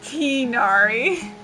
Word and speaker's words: Tighnari: should be pronounced uh in Japanese the G is removed it's teenari how do they also